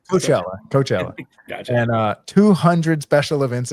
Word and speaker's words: Coachella: No, not what I'm pronouncing that wrong. Coachella.